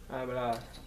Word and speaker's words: hablar: To speak began with a silent H. I don't know if you remember this verb. Hablar.